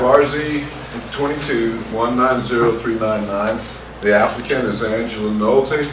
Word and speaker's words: Nolte: The applicant is Angela Nolte, is that the correct way to pronounce that? That's correct.